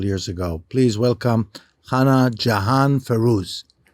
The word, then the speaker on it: Jahan: And some people pronounce Jan Yahan, especially in Israel, just to make it more easy on the ear, but the name actually is Jan.